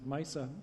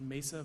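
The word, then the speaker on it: Meissa: develop intranasal vaccines at misa tell us about your approach thank you yes my name is i'm a phd virologist a co-founder and chief scientific officer of uh it's pronounced mesa vaccines which is a clinical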